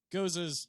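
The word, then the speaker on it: Gose: Goza. And it's a phenomenal little summer drink. Which is a sour. Yeah. Goes. You're Is it saying Goza words. Or It is, goes? Goza. Goza's traditional pronunciation.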